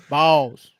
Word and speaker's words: Vols: And that is spelled, for those of you keeping up at home, that is spelled V-A-W-L-S, the Vols. Vols.